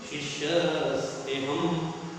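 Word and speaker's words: शिष्यस्तेऽहं: अवग्रह का तात्पर्य है यहाँ अ है ऐसा ध्यान रहे, लेकिन जब हम श्लोक बोलते हैं उसको अ का उच्चारण नहीं करना है। कैसे बोलेंगे? शिष्यस्तेहम शादिमां त्वं प्रपन्नम।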